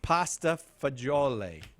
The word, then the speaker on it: pasta fagioli: Pasta fagioli.